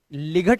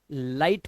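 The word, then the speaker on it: light: लिए बोला गया है कि जी एचटी में आया हुआ जो जीएच होता है ना ये हमेशा साइलेंट रहता है ध्यान रखना तो इसे लिग नहीं लाइट पढ़ेंगे इसी तरह से यहां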